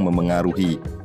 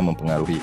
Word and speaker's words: memengaruhi: Yang betul menurut Puebi itu memang memengaruhi. Meskipun kalau pengucapan kita sering menyebutnya mempengaruhi.